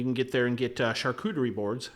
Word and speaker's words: charcuterie: And you can get there and get charcuterie boards. Hey, I said it right, not charcuterie.